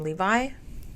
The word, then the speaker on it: Levi: yeah um it says Zachary how do you pronounce his last name Levi Zachary Levi yes called tone deaf for promoting